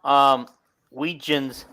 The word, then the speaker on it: Wetjen: So since we have Weegens, it's pronounced Weegen, and we do have their relatives watching this, not live, obviously, but they do watch the replays, so we should probably get his name right.